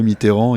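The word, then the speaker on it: Mitterrand: pas c'est quoi mitran mitran c'est les c'est genre la façon de prononcer des gens qui n'aimaient pas miteran il disaient mitran enfin c'est très bizarre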